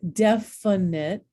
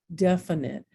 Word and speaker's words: definite: at this one um definite remember often that middle syllable is schwad definite well what letter is